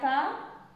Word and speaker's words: pas: Il n'y a pas, je vais souligner aussi le S, parce que ça ne se prononce pas.